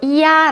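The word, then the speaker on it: ia: 이야 라고 읽습니다.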